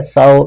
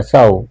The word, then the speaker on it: sew: And more going out टू सौ, ये SEW देखने में है, इस सीओ नहीं है, इसका मतलब कपड़े सीना होता है, साउ इसकी प्रोनाउंसिएशन है, साउ।